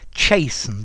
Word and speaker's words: chasten: chasten as well notice jason the t is silent i think like listen the t is silent as well chase okay chased as